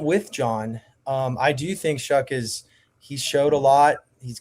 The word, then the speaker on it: Shough: Is it Tyler Shough? Hey. You would be better than me. Hey, this is my guy. Okay, yeah, I got it. This is Tyler Shough.